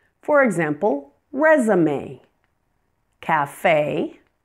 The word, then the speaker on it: café: Words that have been borrowed from French pronounce the final E as A. For example, resume, café, fiancé.